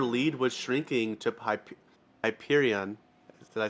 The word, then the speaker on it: Hyperion: and how their lead was shrinking to pip Hyperion did I say it right that time yes you did Hyperion okay Hyperion racing uh three so um that